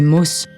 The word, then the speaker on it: Maus: Ce dernier, que je devrais plutôt prononcer Maus, renvoie au terme souris en allemand et exprime d'emblée le point de vue d'où l'histoire se situe.